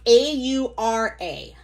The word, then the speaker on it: Aura: I'm pretty sure that's am I supposed to say Aura Bloom or is it Aurora Bloom? How do you pronounce Au? Alexa, how do you pronounce a U R A? I pronounce that Aura, but I'm working on how I say Okay. Aura Bloom. Okay, it's Aura Bloom then.